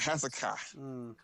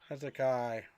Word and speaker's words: Hezekiah: Hezekiah Mass's corner from uh California to the Raiders. We got Hzakai. Hezekiah. That's how you say that name.